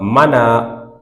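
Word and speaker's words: منع: পড়ি আমরা ওয়ামা মানা ঠিক করে পড়ি। মানা বাংলার মত মানা করলে পড়লে হবে না। তো মানা মানে আইনের উচ্চারণ খুব ইন্টারেস্টিং।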